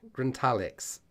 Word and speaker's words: Grintalex: uh grin tar Lex Grint Alex that's how it's supposed to be pronounced grintalex core blummy all right